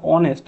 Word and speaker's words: honest: দেখো অনেস্ট, আমরা কিন্তু অনেস্ট অ দিয়ে উচ্চারণ করছি, ও দিয়ে, তাই এখানে অ্যান বসে।